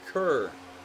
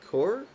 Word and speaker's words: Kerr: says, if B-Max says, if you want to be bang on with the end of your surname, it's actually pronounced like Coors beer, but Kerr will do. So Andrew's saying Core?